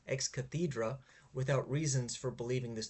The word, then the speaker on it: ex cathedra: Lan just States this ex cathedra or rather sorry I should pronounce this correctly ex cathedra without reasons for believing